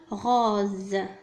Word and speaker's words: rose: الكلمة الثالثة rose. rose. Donc هنا نفس الشرح نفس الحالة. le S محصور بين deux voyelles. O c'est une voyelle, E c'est une voyelle. le S ينطق Z.